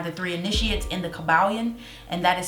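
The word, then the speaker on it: Kybalion: three initiates in the cabalian and that is spelled k-y-b-a-l-l-i-o-n not the caballon or the caballin um i get saying pronouncing those words mixed up but it's kyb okay so we're aware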